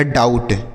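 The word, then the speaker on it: doubt: ये हो गया डाउ अब बी साइलेंट है टी से ट है लिखा गया डाउट ठीक है बच्चों उसी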